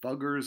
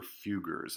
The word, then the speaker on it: Fugger: hapsburgs the you can you can pronounce them Fugger's or few Gers I've heard of pronounce both ways buggers or feu Gers they are from the